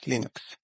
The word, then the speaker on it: Linux: Hello, this is Linus Torvalds, and I pronounce Linux as Linux. Like, it's Linus, but you pronounce it Linux, because there was that big debate, and like that was the sample file that would play.